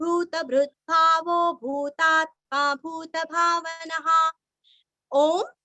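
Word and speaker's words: ओम्: ओम ओम का उच्चारण दीर्घ करना है।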